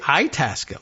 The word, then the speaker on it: Itasca: Itasca, they might say Itasca County. I suppose that's maybe the local accent thing. I don't know. Or they might say Itasca, like Italian.